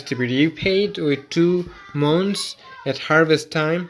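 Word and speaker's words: maunds: be repaid with two mons at Harvest Time so here Mo is spelled as m a u n DS two mons at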